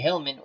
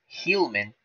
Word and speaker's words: Heilmann: Another great Tiger player, Harry Hillman, won how many titles?